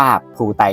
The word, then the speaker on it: Plutine: ตัว ใน แนิเมะ เนี่ย ตัว ละคร ใน เรื่อง นะ ครับ เขา ก็ อ่าน ว่า พูต กันดัม แทน นะ ครับ ฉะนั้น เนี่ย ชื่อ ของ มัน จริง ๆ จะ อ่าน ว่า พูต กันดัม นะ ครับ ผม แล้ว ก็ อีก